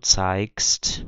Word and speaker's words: zeigst: Então eu tenho ich zeige, du zeigst, com som de K, er zeigt, com som